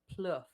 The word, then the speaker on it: Plouffe: say your last name if if you have any French Canadian Blood in you then you would be pronouncing it as plof PL PL PLU I